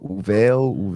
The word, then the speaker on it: Uvalde: How do you pronounce this? Uvalde. I'm not even sure. Uvalde, yeah.